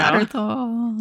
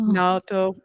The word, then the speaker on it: Naoto: Naruto. Naoto. It's kind of a hard name for Western folks to say. You know, like our mouths, our language doesn't have two vowels that you pronounce separately like that in a lot of